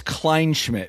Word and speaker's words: Kleinschmidt: It's Anyway, the last name is Kleinschmidt, which is very German. Klein, It's German. It's Klein, Kleinschmidt. It sounds the way it's spelled.